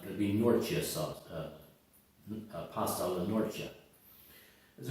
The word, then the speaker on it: Norcia: Pasta alla norcia. It's not nortina or norcia. It's norcia. Even though it's spelled Norcia, you can look it up on a map.